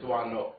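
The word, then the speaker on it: Doisneau: ways by American lecturers I'm pretty sure it's D no yes okay good I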